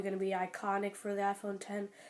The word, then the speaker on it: iPhone X: device the iPhone 10 iPhone X type of people might say but it's pronounced iPhone 10 and I'll explain to you why it is so X is 10 in Roman numerals and that 10 represents